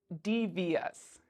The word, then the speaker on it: devious: the first word is Devious devious do you hear Es at the end or do you hear shus devious okay you probably heard this one and that's correct what about curious curious